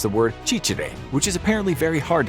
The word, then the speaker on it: ciciri: When they got hold of someone who they weren't sure was French, they made him or her pronounce the word cicere, which is apparently very hard to pronounce for French people.